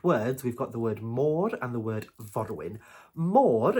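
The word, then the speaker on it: môr: mermaids the word for mermaid in Welsh is Mor vorin more vorin now if we split it up into two different words we've got the word Mo and the word vorin MO is the word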